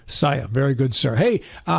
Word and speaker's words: Czaja: making it up right you got it that's pronounced Saya Saya very good sir hey uh how long have